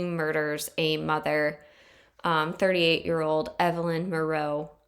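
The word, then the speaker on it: Miroth: He murders a mother, 38-year-old Evelyn Moreau. Or it's spelled Maroth, but I believe it's pronounced Moreau.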